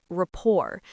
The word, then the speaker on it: rapport: Great word, rapport. Notice the T at the end is silent.